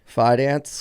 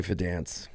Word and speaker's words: Fidance: Fance. Fance, but you can say Fedance.